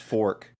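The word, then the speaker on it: fok: Their fuck is spelled F-O-K, fuck, but is pronounced fork.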